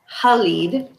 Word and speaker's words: Khalid: listening to the audiobook, Khalid, which was how the uh, narrator pronounced it, which I think is actually how it should be pronounced if you're actually speaking the language that they're coming from.